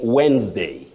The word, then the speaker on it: Wednesday: Isaac Karaoke or Karaoke of Nakuru, you say Wednesday, Wednesday.